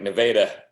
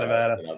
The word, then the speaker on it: Nevada: There's so many Missouri towns that are like Nevada, right? Not Nevada. They look like other places, but pronounced differently.